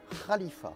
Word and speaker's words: Khalifa: des touristes à Dubaï, vous ne dites pas Burj Khalifa, vous dites Burj Khalifa, car le KH se prononce Kha.